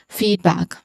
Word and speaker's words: feedback: All right, pronunciation wise, here you see a colon beside an E sound, right? So that is a long E sound here. And then for the second syllable, the vowel sound is short. So this is feedback. Again, feedback. The stressed syllable is on feed.